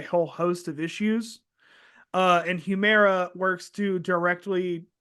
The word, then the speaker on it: Humira: I think the most famous one, how do you spell it, Joseph, again? Humira or Humira? Humira.